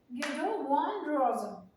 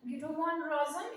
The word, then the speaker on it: Guido van Rossum: Python was actually introduced by, how do you pronounce this, Guido von Rosen. ठीक है, Guido von Rosen. It's not a man, It is pronounced as worm. Guido van Rossum in 1991.